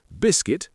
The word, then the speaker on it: biscuit: We also have island with a silent S, biscuit with a silent U, receipt with a silent P, and muscle with a silent C.